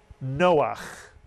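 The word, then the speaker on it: נֹחַ: Two vowels, two syllables. Noach.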